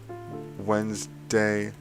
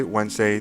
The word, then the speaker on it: Wednesday: Sunday, Monday, Tuesday, Wednesday, Thursday, and Friday. Friday and Saturday. The pronunciations are not always the best. Like Wednesday, usually the D is kind of silent and so is the E.